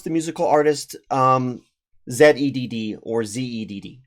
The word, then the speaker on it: Zedd: No, because it has extra letters in it that spell it out as Zed, which is exactly why.